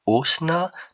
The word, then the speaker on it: osna: Pour il, on dira osna, tandis que pour elle, on dira hosna. Donc il y a un H expiré.